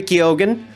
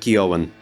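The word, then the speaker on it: Keoghan: They got Barry Kyogan, whose name I know for a goddamn fact I'm pronouncing right. So, you better watch yourself, commenters. It's not Kioen.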